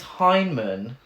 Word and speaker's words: Heinemann: it's definitely intentional but there's definitely an end there so it is heinemann but it absolutely sounds like hyman and i might keep